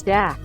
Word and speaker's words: dac: In Romanian, Dacian is dak, pronounced like the English duck, and Thracian is track, pronounced like the English truck.